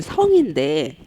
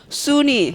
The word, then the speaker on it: 성: 근데 학교 가니까 선생님들이 제 원래 이름은 성인데 이 성이란 이름이 이탈리아어에는 어 발음이 없습니다, 여러분. 어가 없습니다. 참 우리나라 사람들이 섬세하잖아요. 혀도 섬세하다는 거. 그래서 제 이름을 선생님들이 못 부르시는 거죠. 제 한국 이름을 굉장히 어려워하세요. 수니, 소니 막 이러면서.